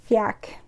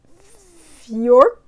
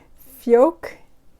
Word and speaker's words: Fjak: you pronounce it either so this little symbol with the circle on top the a with the circle on top that means you pronounce that a more like the o's in poor or or so fjork but i feel like i'm adding an r in there no fjok i don't know it's